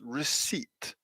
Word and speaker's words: receipt: this sound as well so it's receipt short vowel long vowel receipt receipt so this one's longer e receipt so again we can